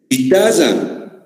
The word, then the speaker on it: guitarra: ¿Pronuncian la U, señores? No. No pronunciamos la U, ¿no?